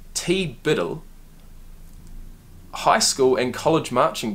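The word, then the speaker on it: TBDBITL: if it weren't for TB DB ITL pronounced T Biddle high school and college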